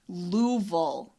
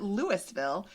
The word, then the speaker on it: Louisville: you say that word louville Louisville yeah yeah okay there's a whole lot more letters in there than are pronounced I'll never get used